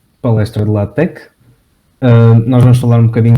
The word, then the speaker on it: LaTeX: Bom, olá malta, bem-vindos à palestra de LaTeX.